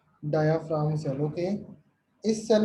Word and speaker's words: diaphragm: DIAPHRAGM। बेटा जी साइलेंट रहता है यहाँ पर, ठीक है? डायाफ्राम cell.